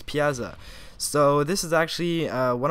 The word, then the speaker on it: Piazza: right like piazza um at first i thought it was plaza but then now i i actually played it and it's piazza so this is actually